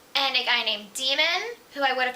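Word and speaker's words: Daemon: and a guy named demon who I would have pronounced Damon and I had been reading it but because I was listening to the audiobook I know it's pronounced demon she forms an immediate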